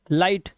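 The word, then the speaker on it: light: अब यहां पर देखो एग्जांपल्स आपके सामने, ये देखो आई के बाद जीएसटी, तो जीएच साइलेंट है तो ये पढ़ेंगे फाइट, लाइट, राइट, नाइट, माइट और टाइट।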